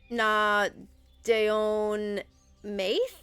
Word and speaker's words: Na Daoine Maithe: the good people um n Deon Ma I believe is the pronunciation in Irish it's irish-based there is